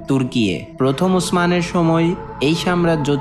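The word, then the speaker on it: Türkiye: 1920 থেকে 1923 সালে এসে আঙ্কারা তুর্কি সরকার সরকারিভাবে কেবল তুরস্ক নামকে বেছে নেয়, তুর্কি ভাষায় যার উচ্চারণ তুর্কিয়ে।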